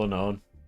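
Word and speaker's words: Unown: they're the real heroes you said it wrong it's called unknown actually there's no K is it actually no it's unknown is there actually yeah oh my God yeah see it's called unnown dude shed inja runs are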